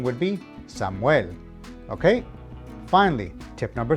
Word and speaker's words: Samuel: If a word ends in a consonant, the emphasis is on the last syllable. Now, take this word for example. In English, you would pronounce it Samuel, emphasis on the first syllable.